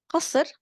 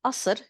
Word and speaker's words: قصر: قصر or قصر in Lebanese, as we pronounce it, swapping the qaf for a glottal stop, is a palace.